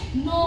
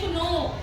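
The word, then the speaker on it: know: वो साइलेंट होगा जैसे के एन ओ डब् इसको हम बोलेंगे नो बहुत सारे बच्चे इसको बोलते हैं क्नो ये क्नो नहीं होता इसको नो बोलते हैं इसमें के हमारा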